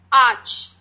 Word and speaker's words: arch: तो सबसे पहला जो हमारा पार्ट है वो है ARCH, आर्च। वैसे इसमें AR लगा हुआ है लेकिन R को हम यहाँ पर साइलेंट ही रखेंगे, तो इसे हम पढ़ेंगे आर्च।